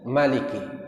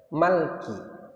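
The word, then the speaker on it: مالك: jadi bacaannya itu boleh Maliki Panjang boleh juga Maliki tidak panjang dan dua-duanya benar dua-duanya sahih dan dua-duanya Mutawatir lalu Sebagian ada juga yang membaca Malki Ya sebagian ada juga yang membaca Malki ada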